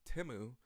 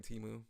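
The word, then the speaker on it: Temu: however it's pronounced so crazy how we didn't know the actual pronunciation of timu until like last year's Super Bowl and we were all just saying teu but hey I still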